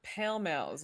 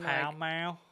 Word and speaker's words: Pall Mall: he just smokes Pall Malls like a trashy New Mexican Dude, my mom pronounces them pale males, and I'm Pall like, Mall. Yeah. what? Not, And she was it's like, not Palm.